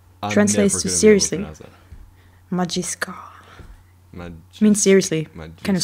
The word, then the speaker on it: Majisuka: Oh, by the way, in the announcement, you you mispronounced the URL. Yeah. It's Majiska. Translates to seriously. Majiska.